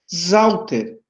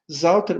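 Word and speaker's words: Sauter: Zauter. Zauter, mas professor, se escreve com S e se pronuncia com Z. Pois é, se escreve com S e se pronuncia com Z. E tem 2 T's.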